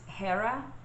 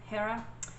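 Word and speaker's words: Jera: for you is is i think it's pronounced hera it's j-e-r-a hera and this one is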